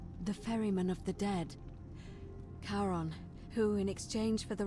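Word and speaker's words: Charon: It's just as you described it, only your pronunciation is a little off. The name you heard wasn't Karen. It was C H A R O N. as in Karon, the fairyman of the dead. Kaon, who in exchange for the right coin, helps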